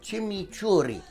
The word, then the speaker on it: chimichurri: do here is imitate an Argentine chimichurri sauce you have to say it like that chimichurri now I'm gonna put